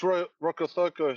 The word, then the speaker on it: Rokocoko: It's Rokocoko. So the C at Fijian, it's pronounced tha. So if we try to read cat, it's fat. Yeah. So it's thoko.